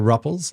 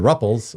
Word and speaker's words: Rupple: And your name rhymes with Thruple, which is crazy and super fun.